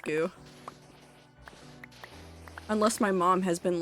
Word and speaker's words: GU: like new nutrient d i pronounce that G I guarantee you it's pronounced goo unless my mom has